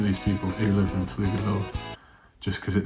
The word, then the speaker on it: Pflugerville: I believe the P is silent, and I think it's pronounced Pflugerville.